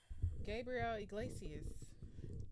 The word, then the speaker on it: Gabriel Iglesias: Gabriel Iglesias.